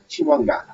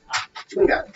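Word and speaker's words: Chwinga: So pronunciation is going to be C-H-E-H. Wing, W-I-N-G, Chiwonga. Chiwonga.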